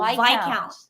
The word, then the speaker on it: Viscount: I say it wrong Viscount is pronounced without oh V count thank you thank you